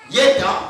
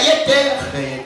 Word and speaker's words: Jéter: Le J ici se prononce aussi comme Y.